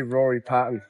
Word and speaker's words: Rory Patton: pronounce your name well I would say Rory Patton but I think it comes off you know an English tongue better Rory Payton